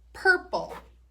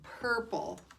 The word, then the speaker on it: purple: Purple. Oh, and it has a silent letter at the end. What is it? Silent E. Good. There's that UR again. Purple.